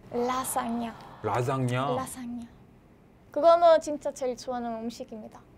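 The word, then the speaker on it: lasagna: 라사냐. 왜 짜장면 나와? 라자냐. 라사냐. 저 라자냐 알고 있는데 원토 발음이 라짱냐. 라짱냐. 맞아요, 맞아요. 근데 이탈리아 발음 라사냐. 라사냐. 라사냐.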